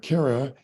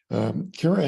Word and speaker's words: Kara: on May 18th uh Cara and so it's pronounced care uh because she cares right she came to us